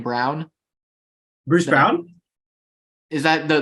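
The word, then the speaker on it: Braun: no no no like his last name is spelled Brawn but they say it's pronounced Brown I I don't know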